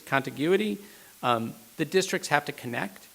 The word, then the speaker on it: contiguity: And I always screw up the pronunciation of this word, but I always want to call it contiguity, it's contiguity.